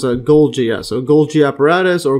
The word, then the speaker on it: Golgi: Yeah, I think it's actually pronounced Golgi, yeah.